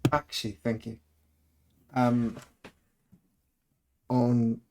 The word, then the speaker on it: Bakshi: I first saw the Ralph Baskin um Lord of the Rings. Is that how you say his name? Baskin. Bakshi. Bakshi.